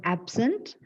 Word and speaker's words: absent: You see, the stress is on the first syllable.